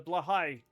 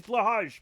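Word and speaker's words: Blåhaj: toy shark the the blahigh. Yeah. Or what's it called? Blhigh. Blahigh. That's actually how it's pronounced. It's not pronounced like it's spelled.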